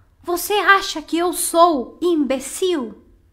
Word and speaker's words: imbecil: seu heterotonico Ou seja a gente não fala imbecil a gente fala o imbecil se você viu a sílaba tônica é diferente e desse imbecil Então